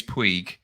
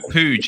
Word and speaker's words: Puig: pennhalligans oh yes yes sometimes probably mispronounced by many people including me as puig yeah yeah pooch is it okay yeah just so